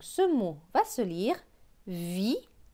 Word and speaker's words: vitrail: Avec AIL, AIL se prononce aïe. Donc tre et aïe, ça fait traille. Donc ce mot va se lire vitrail. Vitrail, le vitrail.